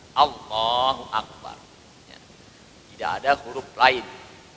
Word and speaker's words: Allahu Akbar: Jadi enggak boleh kita bacanya wallahu akbar. Wallahu akbar, enggak boleh. Enggak usah ada wawnya. Allah saja langsung. Allahu akbar.